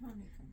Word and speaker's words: Hanukkah: We usually have them at Chanukah. Hanukkah. Oh. That's Hanukkah. But it's spelled Chanu. I know. Okay, so it's just a different spelling of Hanukkah.